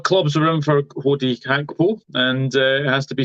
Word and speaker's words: Gakpo: And yes, it's a silent G. Apparently, it's Cody Gakpo. I think that's how you pronounce it anyway.